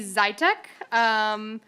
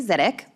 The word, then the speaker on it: Zytek: Next on my list is Zytek. Please correct my pronunciation of your name, introduce yourself, and then proceed with your testimony. It's Zidek.